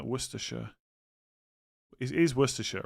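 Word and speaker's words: Worcestershire: It's like pronouncing Woristers sauce as opposed to literally saying letters in there. Worersha.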